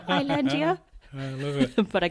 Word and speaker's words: Islandia: So you released your debut album, Islandia. Yes. Got the pronunciation right. Nailed that. Well, I remember because I had to say it in the very, very first podcast episode. Oh, really? And you're like, Islandia.